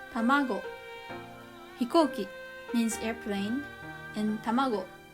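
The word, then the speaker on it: たまご: and tanki is weather number three middle high examples are hikoki hikoki tamago tamago hikoki means airplane and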